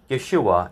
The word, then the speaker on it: Yeshua: was not pronounced as Jesus in English it's pronounced as Jesus but in Hebrew it was Yeshua in Greek it was yesus not Zeus this